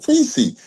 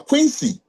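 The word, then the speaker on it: Kwesi: Oh, Quincy. I said, "No, Quincy." And then I'll spell it for you. K W E S I.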